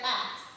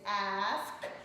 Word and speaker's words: ask: And so I said axe. This is a very common way that Black Americans say that word. And so my teacher or the coach looks at me and she's like, no, it's ask. The S is before the K.